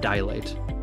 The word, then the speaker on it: dilate: Though it might sound like it has 3 syllables, it's correctly pronounced dilate.